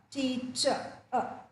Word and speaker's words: teacher: The last letter is R, but in English language, when a word ends in the letter R, the R is silent. Right? The R is silent. So, it ends with the sound A, teacher.